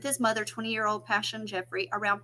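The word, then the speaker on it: Pashun: so sad y'all and her name is Passion but it is spelled p-a-s-h-u-n you guys I would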